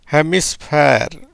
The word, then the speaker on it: hemisphere: கடைசியில் இ வந்தால் உச்சரிப்பு கிடையாது, அதனால் ஆருக்கு மட்டும் மெய் எழுத்தாக வருகிறது. H plus A ஹே, எம்ஐக்கு மீ, எஸ்ஸுக்கு எஸ், பிஹெச்இக்கு பி, இது ஏங்கிறதுனால பே, இருக்கு இர். எப்படி வருது பாருங்கள், எப்படி வருது? ஹெமிஸ்ஃபேர், ஹெமிஸ்ஃபேர் அப்படின்ற உச்சரிப்பில் வருது.